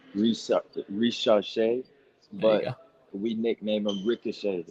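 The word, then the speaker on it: Risacher: can't still into it look his last name is pronounced re rash but we nickname him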